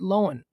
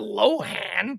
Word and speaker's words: Lohan: would probably pronounce it lowen and that's what lindsay says my last name is lowen it's not it's not lohan that's just it's an irish spelling it's an irish pronunciation it's lowen lindsay lohn